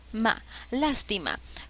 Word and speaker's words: lástima: sílabas las t lástima cuál de estas palabras lleva la mayor fuerza de voz cuál es la sílaba con mayor intensidad lástima suena bien lástima lástima la sílaba que lleva la mayor fuerza de voces la mayor fuerza de voz está en la antepenúltima sílaba por ende es una palabra esdrújula bien ahora cuando se